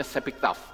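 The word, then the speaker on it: שבכתב: yang disebut dengan torah sebiktaf ya Ini bacanya seiktaf Ya torah sebiktaf saya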